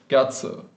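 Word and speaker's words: 月: So the Middle Chinese word for moon or month, which this character was used to write, was something like ngot. And that's where we get this modern Japanese pronunciation, this onyomi of gatsu.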